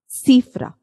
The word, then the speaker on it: cifra: When C, the alphabet C is before E and I, it has the soft C sound.